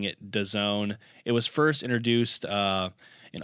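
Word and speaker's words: DAZN: much and that is a streaming company called does own that that's how they're pronouncing it but if you read it in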